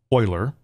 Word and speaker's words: Euler: So remember, e is a constant, it's the Euler number, and it is pronounced Euler, but I'm going to say e whenever I read it in a function.